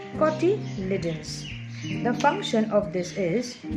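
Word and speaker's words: cotyledons: leaves we call them koti lidons it is pronounced as coty liddens the function of this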